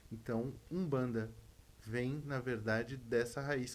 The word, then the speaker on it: Umbanda: U bbanda, só que ele vem de uma palavra de uma nação banto, cujas palavras têm um m, que é mudo no início da palavra, mas se lê com u. Então, Umbanda vem, na verdade, dessa